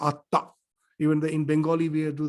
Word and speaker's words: Atta: Anatta means in Pali language that they cannot pronounce Atma, that is pronounced as Atta.